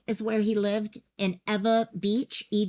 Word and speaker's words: Ewa: where he lived in Eva Beach Ewa is Eva Ewa Beach Kapolei is